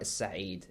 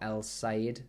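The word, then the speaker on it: السعيد: And notice that the sin is a sun letter, which means we don't pronounce the lam before it. So although in English we've got El-Said bakery, you might read it, or El-Said bakery, it's actually pronounced in Arabic, makhbaz Is-Sa'id, Is-Sa'id.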